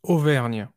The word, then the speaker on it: Auvergne: He was born in September 1757 in a south central France province called, and I'll let you pronounce it. Yeah, it's Auvergne.